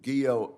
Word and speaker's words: Guo: to help um General guo I note that your name rhymes with hero is that right yeah yes Senator it does okay good well we we